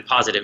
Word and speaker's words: Pozative: Exactly, Positive. It's spelled Pozative.